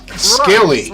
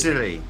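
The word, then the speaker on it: Scilly: at at America where where is skilly skilly is that how you say it skilly skilly Gilly s-t-i-l-l-y or e y not Sicily silly not Sicily it's Italy no it's called the silly Isles oh yeah yeah oh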